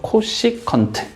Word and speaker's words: 코시컨트: 근데 이걸 읽을 때 당연히 CSC라고 읽진 않을 거 아니야. 그치? 자, 그래서 얘를 우리는 뭐라고 읽어주냐면 코시컨트라고 읽어줘. 코시컨트. 됐지?